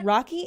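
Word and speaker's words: Raque: because it was it's pronounced it's like written out frenchly my bad frenchly it's okay Rocky is spelled r a q u e it's not my fault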